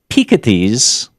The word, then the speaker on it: Piketty: The other thing I did on this trip is I read large chunks of Thomas Piketty's. Yeah, it's the French pronunciation, not the.